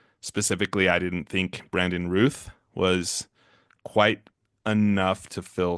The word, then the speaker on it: Routh: It's pronounced Ruth, not Routh.